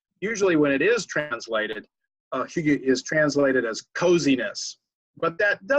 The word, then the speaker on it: hygge: 3 or 4 sentences without saying the word hygge. Now, hygge is spelled Hygge.